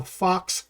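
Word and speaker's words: faux: lightweight wood and also what they call fox leather. Now that's spelled F-A-U-X, not F-O-X, okay?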